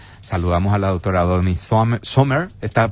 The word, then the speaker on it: Sommer: Saludamos a la doctora Doni Sommer. ¿Está pronunciando bien, doctora? Bien enfrente, recuérdeme, acá. Perfectamente. Bueno, Sommer, porque ya dijimos Summer es... No, sería con U. ¿Eh? Summer sería con U y es Summer porque es con O.